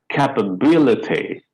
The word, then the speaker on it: capability: So this E sound gets reduced, becomes swa. Capability, capability.